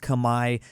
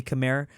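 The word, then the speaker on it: Khmer: it's fine to say Chimera, but just just know that it it's Kami. Um, it is pronounced Kami if you go to Cambodia.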